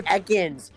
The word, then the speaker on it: Ekans: It's Ekans! Why? It's Ekans! What? Why do you pronounce things wrong?